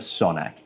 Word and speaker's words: Sanok: After he finished his studies in Krakow, Beksiński came here to Sanok, where he work- I'm saying it wrong. Sanok Beksiński came here to Sanok, where he worked